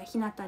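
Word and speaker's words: ひなた: う、福田ひなじゃなくて福田ひなたです。そう、ひなたって読みます。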